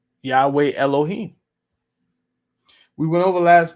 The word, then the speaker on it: Yahweh: seen that yhw um people pronounce that as Yahweh I am who I